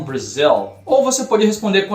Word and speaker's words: Brazil: país from Brail fha a pronúncia de Brasil I'm from Brazil ou você pode responder